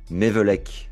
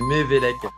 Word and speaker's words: Mevellec: Aujourd'hui, je suis avec un organisateur de tournoi, Mevelek. Je l'ai bien prononcé? On est bon? Non, non, tout faux. Super. Dis-nous, aide-moi. Non, il y a un accent en fait, c'est Mévélec. Mevelek, Voilà.